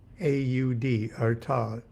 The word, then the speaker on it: Artaud: Scriabin, Breton, B-R-E-T-O-N, and R-A-R-T-A-U-D, Artaud.